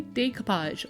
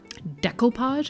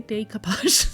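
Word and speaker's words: découpage: a few people say why do I say decapage well decapage is a French word and that's how it's pronounced so um I'm in Canada and so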